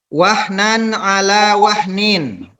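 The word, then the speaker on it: وَهْنًا عَلَىٰ وَهْنٍ: Tanwin ini bertemu dengan huruf A. Ain. Dibaca jelas ya. Ya, Tidak Pak. boleh dibaca wahnan ala wah, tapi wahnan ala wahnin ya.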